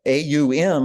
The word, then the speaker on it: Aum: It was a 3-syllable thing. And the AUM is the way it's spelled, and each of those is a separate syllable. So it's A-O-M, 3 distinct syllables.